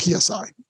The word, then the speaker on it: psi: We lump all those words together into the Greek letter psi, which is like the trident kind of thing. And it's spelled PSI. And we just call it psi.